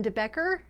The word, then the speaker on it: de Becker: Gift of fear and that is by Gavin debecker I get it mixed up sometimes I said